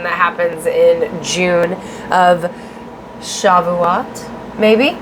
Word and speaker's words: Shavuot: And the Jewish celebration that happens in June of Shavuot. maybe. I'm not sure if I'm saying it right. Sorry, guys. It's Shavut.